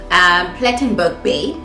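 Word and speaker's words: Plettenberg Bay: We are in Plattenburg, Plattenburg Bay. Is that how you pronounce it?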